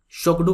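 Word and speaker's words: Tshogdu: भूटान की जो पार्लियामेंट है उसे शोगडू कहा जाता है, टी साइलेंट है, शोगडू कहा जाता है।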